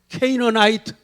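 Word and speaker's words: Canaanite: 가나안, 케이너나이트. 가나안이 영어 발음이요. 케이너나이트예요. 케이너나이트. 한번 그래도 해봐요.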